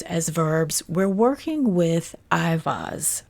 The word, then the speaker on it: Eihwaz: verbs we're working with IAS or some folks pronounced Yas of the Galer I